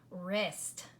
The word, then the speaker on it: wrists: that word might be if we take off the W that silent consonant there at the beginning and we would just pronounce the R er its wrists yes the wrists right